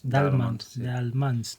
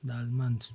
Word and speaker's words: Daelemans: quieres que lo pronuncie. Dalmans. Dalmans.